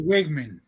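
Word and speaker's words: Weigman: big believer in Conor Wagman um wigman Wagman however you pronounce it um but actually wigman wigman okay was over two um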